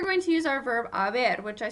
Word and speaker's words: haber: Notice that that H, remember, is silent. So we've got our verb haber.